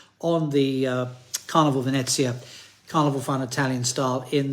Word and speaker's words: Venezia: No, John, it's Venezia and Firenze.